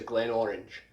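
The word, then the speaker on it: Glenmorangie: all you need to ask for is a glen orange glen orange glen orange next we have another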